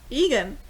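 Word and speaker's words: Egen: It's not exactly spelled like her name, but that's Egan.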